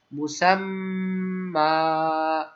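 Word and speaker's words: مسمى: জন্য আমরা কি দেব, একটা খাড়া জবর মনে মনে দিয়ে আমাদের উচ্চারণ করতে হবে। তাহলে কি বলতে হবে, মুসাম্মানটাকে বলতে হবে মুসাম্মা।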